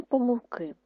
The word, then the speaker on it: помилки: так і ще раз правило що слово помилка можна наголошувати і помилка і помилка а слово помилки тільки один наголос наступне наше завдання на